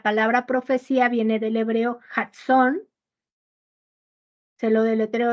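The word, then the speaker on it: jazón: profecía viene del hebreo json se lo del hebreo es kade kilo J a Z o n acento en la o qué significa sueño revelación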